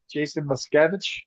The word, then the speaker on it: Muskevich: from Summit Spine and Wellness, and I'm here with my friend Jason Muskevich. Is that how you say it, Jason? Yep, nailed it.